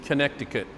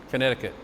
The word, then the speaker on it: Connecticut: of some people in connecticut connecticut why don't they say it the way it's spelled are kansas versus arkansas connecticut instead of connecticut it's